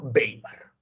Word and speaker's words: Weimar: así República de weimar se escribe weimar porque se estableció en el lugar alemán llamado baymar y es esta República